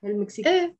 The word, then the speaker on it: المكسيك: Some countries have an L, some countries don't. You just have to memorize them. So أنا عايشة بدبي. Dubai doesn't have L. أنا عايشة بدبي. أنا عايشة or ساكنة بالمكسيك. مكسيك does have an L. المكسيك.